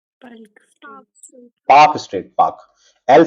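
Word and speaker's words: Palk: पाक पाक पाक स्टेट पाक। एल साइलेंट हो जाता है ना? इसमें एल साइलेंट होता है तो हम क्या कहते हैं? पाक पाक स्टेट।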